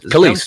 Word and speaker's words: Kelis: Kelis, you said it right.